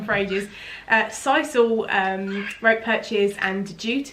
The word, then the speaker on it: sisal: straight out but safe alternatives would be uh sissel or sisal as i recently found out it was pronounced so i've been pronouncing it wrong for ages uh sisal um rope perches and jute as well are